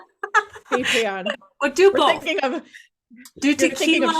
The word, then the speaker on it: Patreon: No, it's not Patron. Patreon.